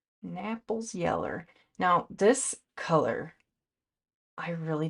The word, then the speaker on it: Naples yellow: Napple yellow. Just kidding. pronounced Naples. Naples yellow.